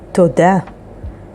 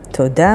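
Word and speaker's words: תודה: Here's a beautiful word, toda. Toda means thank you, and it is spelled with taf, vav, dalet, hey.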